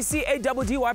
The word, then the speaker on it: Caddy: It's your boy C-A-D-D-Y, pronounced Caddy, yet on another mission running the streets of Johannesburg.